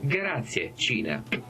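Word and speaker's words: Grazie Cina: Grazie Cina。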